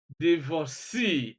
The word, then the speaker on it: divorcee: We have absentee, détenu, nominee, reportee, divorcee, and so on and so forth.